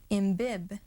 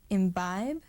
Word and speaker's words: imbibe: Can we pronounce then imbib instead of imbibe? Certainly no. The silent E makes the vowel I say its long sound, or we can also say its own name.